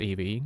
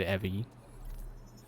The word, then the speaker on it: Evie: Apparently it is pronounced Eevee, and the other guy was just pronouncing it Evie.